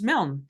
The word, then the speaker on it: Milne: last names right and it's mil and I said M because it's m i l NE e so here we go